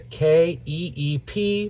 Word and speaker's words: keep: here we're practicing the k e e p we see double e together that's code for us that it makes a long e sound so we've got c